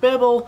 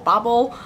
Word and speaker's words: Babel: One thing I will address already, the pronunciation of Babel or Babel. ARC Kuang calls this Babel. The British pronunciation is Babel.